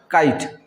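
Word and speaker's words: kite: तो काई बन गया, वो काई और ट, काइट। और ये ई का उच्चारण नहीं होता, वो अ बन गया समझो, ठीक है।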